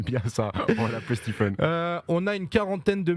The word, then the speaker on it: Stephen: les gens qui m'appelle Stéphane Steven Stephen tout ça donc je laisse passer en fait c'est Stephen Stephen le E en prononce comme un i euh le pH comme un f Stephen voilà Stephen Stephen